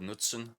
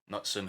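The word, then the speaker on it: Knutsen: option right now is a man called Knudson or Knutson however you want to pronounce it he's a fellow from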